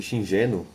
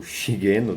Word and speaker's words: Shigeno: Criado por Shuichi Shingeno, ou Shigeno, dependendo da forma como você pronuncia, na metade dos anos